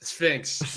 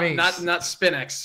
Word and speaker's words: Sphinx: That's Sphinx. Not Spinex or whatever you call him.